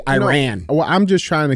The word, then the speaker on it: Iran: let's correct this mhm it's not Iran it's Iran you talk to any